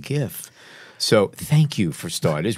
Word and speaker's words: GIF: I roll with a hard G. I've always said GIF because I read it first.